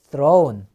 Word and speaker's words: throw: throw, threw, thrown. 다시 한번 throw, threw, thrown. 요 th 발음은요. 이빨을 혀를 갖다 양 이빨로 문 상태에서 뜨 하는 거. 뜨 해보세요. throw.